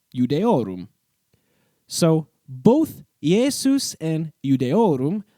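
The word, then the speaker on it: Iudaeorum: Here, the Latin letter I is being pronounced next to the letter U, which in Latin was pronounced similar to our English U. So, Iudeorum. Say it fast enough, and it becomes Judeorum.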